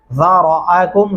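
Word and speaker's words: ذَرَأَكُمْ: ذرأکم زال نرمی سے، را کو موٹا اور پر کر کے پڑھیں گے.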